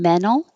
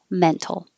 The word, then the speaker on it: mental: have the tea here mental especially right now on tv news you'll hear a lot of news people talking about mental health and speaking more correctly with the t but either way is fine mental mental the noun